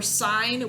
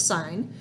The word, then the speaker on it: sine: right so like for sine we use the abbreviation s i n so sine of an angle might look like that it's not pronounced sin it's bounce sine cosine we use cosine